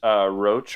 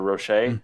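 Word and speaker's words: Roache: I want to kind of go back and talk about Linus Roach or Roche. What did we agree on as pronunciation? I think Roach.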